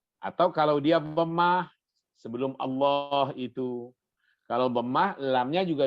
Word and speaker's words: Allah: Kalau ada kata Allah, sebelum kata Allah ada huruf yang berharakat fathah, maka lam pada Allah harus dibaca tebal.